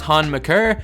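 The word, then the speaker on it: Thon Maker: turn it around and I know his name's pronounced Hahn maccer but he has said he doesn't mind being held on maker and also that's what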